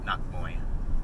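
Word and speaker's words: นักมวย: And so the way Thai people pronounce it would be nak moy.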